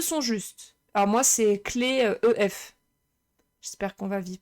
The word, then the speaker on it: clef: Clé à l'oral et clef à l'écrit. Mais clé, ça s'écrit clé. Même si c'est EF, tu dis pas une clef. Même si ça s'écrit clef.